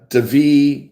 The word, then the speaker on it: David: The cities that are there: Santiago, Devi, spelled like David, Santiago, Devi, La Table, which means, I looked it up.